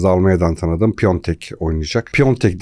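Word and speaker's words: Piątek: Almanya'dan tanıdığım piontek oynayacak piontek deniyor piontek şeklinde okunuyor Bunu biz Bundesliga yorumlarken de çok sıkıntısını çektik niye pch diye bir daha söyleyeyim alta da yazmayın diye piontek okunuşu bu Başakşehir'in 11'i burada kritik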